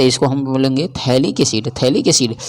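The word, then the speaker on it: phthalic: तो इसको हम बोलेंगे थैलिक acid थैलिक acid pH जो है इसमें एब्सेंट होता है ठीक है तो इसको हम यानी साइलेंट होता है उसी को हम लोग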